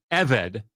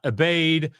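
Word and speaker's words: עבד: forget it but uh you'll hear very quickly eed is how you pronounce the word slave not abade not abad abad like how else do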